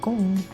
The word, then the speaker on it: Gon: So I don't know how people pronounce his name, but I know like if you pronounce it more in Japanese, it's kind of like Gung. But like, look, we're going to draw him.